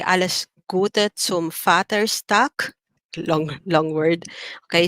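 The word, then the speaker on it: Vater: v-a-t-e-r and that's where the v pronounced like a letter f is fatter's and then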